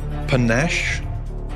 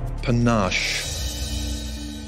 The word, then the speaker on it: panache: half it's next work there are two pronunciations panache or panache cafes have a definition